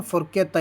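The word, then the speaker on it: forchetta: तो CHE के हो गया ना, फोर्केता यानी कांटा।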